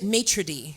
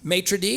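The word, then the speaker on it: maître: Is it matra? Matrae.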